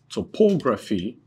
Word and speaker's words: topography: If a word ends with the suffix, what's the suffix? P-H-Y. The suffix is P-H-Y. Then, the main or primary stress, the main or primary stress falls on antepenultimate syllable. Okay, so now class, here is the rule. Now if the word ends with the suffix, and what's the suffix? PHY is the suffix, then the main or primary stress falls on antepenultimate syllable, that's third to the last syllable.